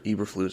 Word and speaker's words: Eberflus: colts defensive coordinator matt edwarfluz or eberflus i've heard it pronounced both ways as their head coach